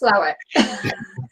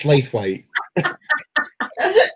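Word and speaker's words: Slaithwaite: No, it's pronounced Slowick. No, to us governors, it's Slathwaite.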